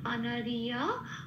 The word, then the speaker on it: অনার্য: এবার জটা উচ্চারণটা হবে ইয়া বলে, অনারিয়া।